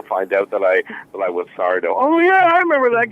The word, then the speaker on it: Sardo: It's the accent's on the SAR, is that correct? Accent on the dough. Oh, right. No, mister. Accent on the dough. Yes. It's easy. It's simple. You say it the way it's spelled.